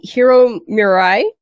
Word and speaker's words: Hiro Murai: directed Chapter six this episode was directed by Hiro Mirai baby is how you say his name uh